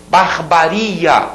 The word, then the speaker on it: barbaria: muita gente fala pudico barbaria barbaria aquele ria que tônico e olha aquela ali